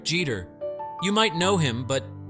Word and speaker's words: Jeter: easy right now the trickier part Jeter Jeter Jeter think of it like Jeter where G rhymes with B now can you do it say